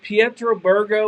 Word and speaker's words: Pietroburgo: did I say the name correct is it Pietro Burgo or is there like some official way to